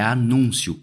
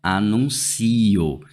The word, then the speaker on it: anúncio: Nessa palavra aqui, a gente tem que entender o seguinte: a palavra aqui é anúncio e não anuncio. Porque eu poderia ter essa palavra escrita assim, ó, anuncio, do verbo anunciar.